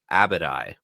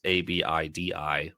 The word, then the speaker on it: Abidi: So I read this name and I pronounced it in our preview chapter as Abadi. I thought it was Abadi the Monarch, which it is Abidi. So Paul, you're correct, and Eliot, you're also correct that it is Abidi is how they say it in the audiobook.